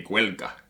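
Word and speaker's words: Gaeilge: The Irish say Gaelga or Gaelic.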